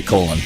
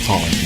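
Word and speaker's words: Collen: had a guest, Phil Collin, right? Mm-hmm. That's how you say his name? Yeah. I sure didn't want to say Colin.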